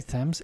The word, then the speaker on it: Thames: we go down the river down the river thames we'll come to a place uh did i say thames it's thames over here in london the pronunciation woolwich no wolich greenwich greenwich so uh